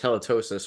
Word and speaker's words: Helitosis: And it is pronounced halitosis, right? It's like the is that like the it's not a gum disease, right? It's like a It's right? like Is really, really bad breath.